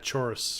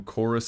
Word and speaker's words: Chaurus: I've only ever seen them written down in the game, and I was calling them chorus and chitin, and I really wanted you to correct me.